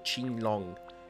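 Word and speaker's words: Qinglong: Long e drago King Non lo so andrebbe pronunciato King Long e significa letteralmente azzurro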